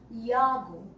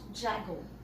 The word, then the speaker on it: Jago: Over here we have, now we will pronounce it as Yago, all right? Yago, not Jago.